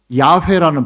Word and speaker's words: 야훼: 그렇게 해서 읽었는데 나올 수 있는 발음이 야훼라는 발음이 나올 수도 있고요. 여호와라는 두 가지 발음이 나올 수 있는 거예요. 근데 뭐가 맞냐라고 또 싸운다면은 팔레스타인 현지에 있는 히브리 사람들이 사용하는 발음으로 읽으면 야훼가 나오는 거고요.